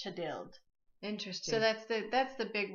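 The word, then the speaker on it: Thjodhild: which is Leif's mother, and her name is Chadild. But it's spelled like, it looks to me like Chodhild, but it's pronounced Chadild.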